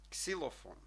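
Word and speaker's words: xylofon: і не потребує перекладу і КС у слові ксилофон ксилофон дуже легко ці слова читаються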